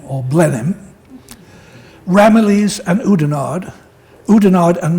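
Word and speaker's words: Blenheim: spelled b l n he i m but pronounced b l n n i m m or Blen him ramales and oudard oudard and Mal Mal plake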